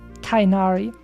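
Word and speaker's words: Tighnari: And what's the rest of your team between Neuvillette and Tigneri, actually? Or Tainari, as they wanted them to pronounce it for some reason.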